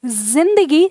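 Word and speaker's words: ज़िंदगी: लगा दें तो ये इसका उच्चारण हम ऐसे ही बोलेंगे जैसा कि उर्दू भाषा में बोला जाता है, ये ज नहीं फिर ज बोला जाएगा। तो अब हमने जब जिंदगी को लिखा तो उसमें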